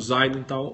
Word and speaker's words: Seidenthal: no Facebook, minha, @Zeidenthal, ou Seidenthal, mas a pronúncia é Zeidenthal, ou etc e tal, como diriam as queridas Consuelo e Solenta.